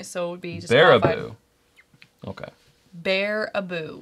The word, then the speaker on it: Baraboo: Bear-a-boo. Okay. Bear-a-boo. Bear-a-boo. Thank you, pronounced.